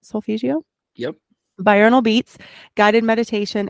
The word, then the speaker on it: solfeggio: of solfeggio I think I'm saying it right solfeggio yep bional beats guided meditation and 17 000